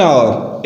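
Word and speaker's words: hour: क्योंकि यहाँ पे एच की आवाज जो है वो साइलेंट है।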